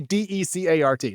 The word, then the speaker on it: Decart: It's not even spelled like Descartes the philosopher. It's literally Decart.